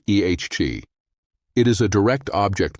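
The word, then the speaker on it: את: Et is pronounced ehg.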